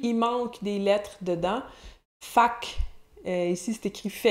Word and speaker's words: faque: Fac, ici c'est écrit « fait que », là, mais il prononce « fac », la même fac que tout à l'heure, donc.